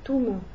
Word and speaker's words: Tom: Par exemple, Tom ne va pas se prononcer Tom en arabe, ça va se prononcer Toum, parce que le O n'existe pas.